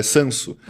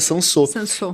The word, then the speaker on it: Sanso: na cidade é que quando você lê, você pronuncia ele errado. Você lê Sans é Sanso. As pessoas, 90% das pessoas falam sanso, mas a pronúncia certa é Sansô, que é o prefixo